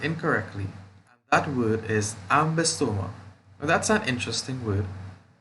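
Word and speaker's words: Ambystoma: And that word is Ambisoma. Now that's an interesting word. And we pronounced it Ambisoma. Ambistoma. There are 4 syllables.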